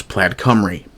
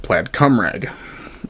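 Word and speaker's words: Plaid Cymru: I'm lucky I can pronounce Plaid Camry. I had to be careful not to call it Plaid Cumrag.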